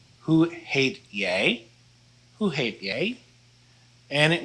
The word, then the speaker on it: hoe heet jij: So this is pronounced hoe heet jij?